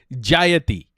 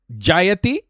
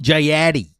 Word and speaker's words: Jayati: Yo, just say her name the way it's supposed to be said. Jayati. Jayati. Not Jayatti.